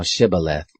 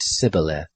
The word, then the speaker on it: shibboleth: they said to him say now shibboleth and he said sybileth for he couldn't manage to pronounce it right then they laid hold